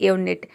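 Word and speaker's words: unit: पांचवा रूल है कि कई वर्ड के शुरू में यू को हम यू प्रोनाउंस करते हैं, जैसे कि यूनिट।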